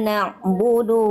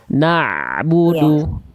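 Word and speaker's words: نَعْبُدُ: Nah, ada bunyi ain dilafalkan dari tengah tenggorokan. Na'budu.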